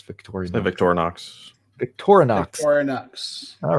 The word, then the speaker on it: Victorinox: so far there's no there's no a in Victorian Ox Victorinox okay how do you guys how would you guys pronounce Victoria's Victorinox Victorinox all right sorry I stand corrected thank you tank 44.